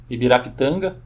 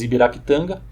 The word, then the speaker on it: Ibirapitanga: Já tínhamos Ibirapitanga. Aqui eu estou usando uma pronúncia portuguesada, certo? Em tupi não seria pronunciado assim Ibirapitanga, mas não vem ao caso explicar isso aqui agora.